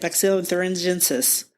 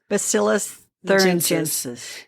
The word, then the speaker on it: Bacillus thuringiensis: Bacillus thuringiensis. Bacillus thuringiensis.